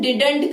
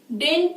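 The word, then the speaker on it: didn't: अब कई लोग डेंट का प्रोनाउंसिएशन डिडंट करते हैं। डिडंट, डिडंट बिल्कुल रॉन्ग वर्ड है, you have to यूज डेंट। डेंट इट is correct, डिडंट कोई वर्ड नहीं होता है, डेंट।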